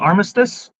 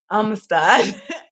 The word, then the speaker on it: Amistad: And you said it's called Armistice. Amistad.